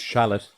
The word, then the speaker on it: chalet: So basically their orders are to secure a chalet and... It's pronounced shallot.